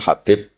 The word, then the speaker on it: Habib: Ada yang nulis Abi Abdurrahman Habib Asulami. Itu di harakatnya kitab itu ada yang nulis khubab. Tapi yang benar Oh, nggih. Yang benar itu bacanya habib.